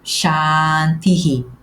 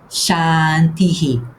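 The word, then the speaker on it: शान्ति: Neste caso, em chá está bem, porque temos a seguir um a aberto. Repete comigo, chanti. E não tenhaslhe vergonha de abrir muito a boca.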